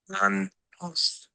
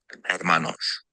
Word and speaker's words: Hermanos: So he goes, Yeah, you're really close, Dom. It's pronounced Hermanos. Hermanos.